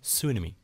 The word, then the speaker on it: tsunami: Tsunami. T is silent. We only say tsunami.